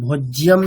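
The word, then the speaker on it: भोज्यम्: আচ্ছা, তৃতীয় লাইনে দেখুন শব্দটা আলাদা আছে, ভোজ্যম না ভোক্তা।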